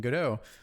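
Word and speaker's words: Godot: they're doing it in godo or God do depend on how you want to pronounce it and they were asking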